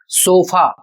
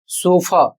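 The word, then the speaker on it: sofa: इसको हम लोग पढ़ते हैं सोफा जबकि इसका सही उच्चारण होगा सोफा। सो इसका जो सही उच्चारण होगा वह होगा सोफा। अंत में हल्का आ बोलना है। बहुत बड़ा नहीं बोलना है।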